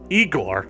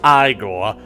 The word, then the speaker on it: Igor: Igor? No, it's pronounced Igor.